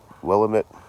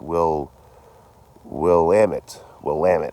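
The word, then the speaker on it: Willamette: Everyone keeps yelling at me cuz I keep miss I said uh Willilamit and they're like no it's it's Will will Lamit. It's the Will EMTT River.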